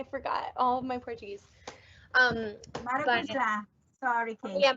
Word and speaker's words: maracujá: Maracujá. Sorry, Kate. Yeah, maracujá.